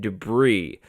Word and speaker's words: debris: It's ancient debris. Like no S, but I don't know.